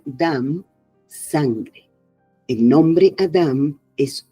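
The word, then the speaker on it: דם: misma es la unidad, seguida de Dalet, Mem, que se pronuncia Dam, sangre.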